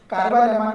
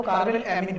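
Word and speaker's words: carbylamine: Racing को racing ही बोलते हैं, फ्रीडल क्राफ्ट को फ्रीडल क्राफ्ट बोलते हैं, हुंस-डीकर को हुंस-डीकर, फिटिंग को फिटिंग, कार्बाइल अमाइन को कार्बाइल एमीन बोलते हैं।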